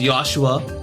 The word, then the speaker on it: Joshua: So, it's a silent J just like how Joshua is pronounced Yosua.